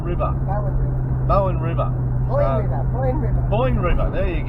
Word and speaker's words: Boyne: So anyway, that was Miriam Vale, and we're back on our hunt again to Bowden River. Boyne River. Boyne River, there you go. We're doing really well with this pronunciation of crap, I can tell you.